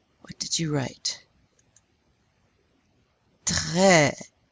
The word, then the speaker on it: très: And this one, how do you pronounce this? Accent grave? Eh. Eh, like the English word red.